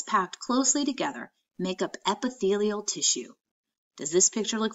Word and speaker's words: epithelial: you think epithelial tissue does can you even pronounce that word try it as I say it again epi' fee yo epithelial what a big word for tissue that covers